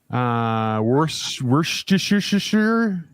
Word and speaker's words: Worcestershire: Hey, If got you your decide- Mini- If you decide to read out Joe Anderson's comment, I'm happy to pronounce that for you. Worcestershire.